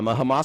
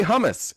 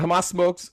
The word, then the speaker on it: Hamas: You wouldn't say hummus. You just wouldn't say hummus. You would know how to say it. A Hamas spokesman has warned that